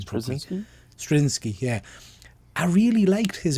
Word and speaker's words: Straczynski: Straczynski? Can't pronounce his name properly. Straczynski, yeah.